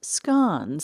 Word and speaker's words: scone: You will always find fresh scon, pronounced scon here, but remember a scone is a stone you find at Starbucks.